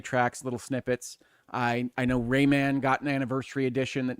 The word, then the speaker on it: Rayman: I know Rayman got an anniversary edition that has little like digital eclipse. Whoa. Raymond, please keep your Raymond, your yes. original pronunciation.